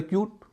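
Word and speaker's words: cute: रहा उ इस तर क्यूट वैसा ही शब्द है य से पहले क्या है सी है सी का उच्चारण क्या है क जोश चार में क है नहीं है तो उच्चारण होरहा य वाला यानी क्यूट तो जूट फ्लूट म्यूट और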